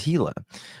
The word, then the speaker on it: Gila: saying this right that is it pronounced Gilla or is it pronoun Gilla or let me see how you pronounce this I want to say it right okay it's hila the hila County Sheriff's Office with